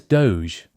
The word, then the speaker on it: DOGE: Here, by taking the initials, it becomes DO G, which is pronounced as Doge.